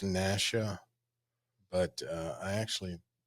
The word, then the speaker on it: Nacchia: actually like you do it's pronounced Nasha but uh I actually like that but it's pronounced Nasha you can call me